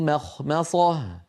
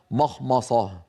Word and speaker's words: مخمصة: ما مخمصة، يعني القارئ ينطق ميم مرققة، خاء مفخمة، ميم مرققة، صاد مفخمة. الأمر فيه تناوب وبحاجة إلى يعني تمرين وتدريب، لكنه بعد التدريب يأتي صحيحا هكذا: في مخمصة، في مخمصة، وليس مخمصة.